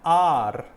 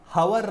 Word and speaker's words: hour: ಹಾಗೆ ಆ್ಯನ್ ಆರ್, ಹವರ್ ಅಂತ ಹೇಳಲ್ಲ. ಓಕೆ, HOUR ಹವರ್ ಅಂತ ಹೇಳಲ್ಲ, ಅದನ್ನು ಆರ್, ಆ್ಯನ್ ಆರ್, half an ಆರ್ ಅಂತ ಹೇಳ್ತೀರಲ್ವ ನೀವು.